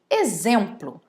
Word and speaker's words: exemplo: É o caso de exagero, exato e exemplo. São 3 palavras que são escritas com X, mas são faladas, pronunciadas com o som de Z.